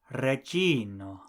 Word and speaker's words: reĝino: Queen is reĝino.